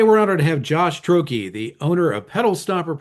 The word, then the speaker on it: Troche: Pronunciation of your last name? Troche. So if you spelled it phonetically, there you go.